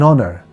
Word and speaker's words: honour: Similarly, we have to remember that some words are spelled with the consonant H at the beginning, but we don't pronounce the H, so we use an. For example, an honour, an hourly bus, an honest man.